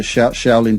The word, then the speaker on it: Shaolin: three months in a temple in china's at shaolin temple is that how you say it yeah the shaolin temple in china yeah yeah learning kung fu